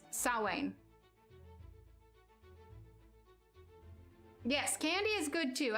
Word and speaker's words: Samhain: at it and you'd think it would be samhain but yeah it's actually pronounced like salwain yes candy is good too i love it